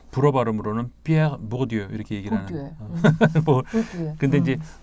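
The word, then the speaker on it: Pierre Bourdieu: 부르디유라고 우리나라에서 얘기하는 부르디유 이렇게 쓰죠. 그 프랑스에서는 이제 불어 발음으로는 피에르 보르디유 이렇게 얘기를 하는.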